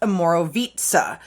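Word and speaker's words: Omorovicza: service it's actually pronounced Amoro vitza so this like the C and the the C is pronounced like a t and this I is pronounced like a long e so it's a Moro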